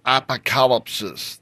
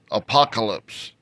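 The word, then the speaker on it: ἀποκάλυψις: bring a little Revelation that word in the original language is apocalypsis they often pronounce that in the English apocalypse it's not a doom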